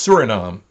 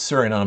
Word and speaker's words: Suriname: uh oh sorry i keep saying names that's surinam and it's a place in uh if we look on a map it's suriname is over here uh and this is oh